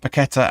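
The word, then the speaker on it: Paquetá: TSC says I think paquetta and for males will score or packeta I think you should be supposed to pronounce that now um because the accent over is a um but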